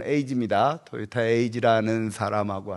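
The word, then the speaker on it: 英二: 저 제가 오늘 할 거는 2대째라고 하는 사람하고 5대째 0 2라고 쓴 일본어 발음으로 에이지입니다. 토요타 에이지라는 사람하고 할 건데요 두 사람인데 그래도 일본 내에서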